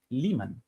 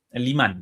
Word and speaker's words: Limán: indirecto de Rusia conquistan Liman. Limán, perdón, esa la pronunciación correcta en ruso.